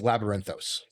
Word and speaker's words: Labyrinthos: And that's Labyrinthos. And that's spelled Labyrinthos.